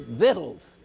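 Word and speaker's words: victuals: this word means food and you pronounce it vittles vittles food and it's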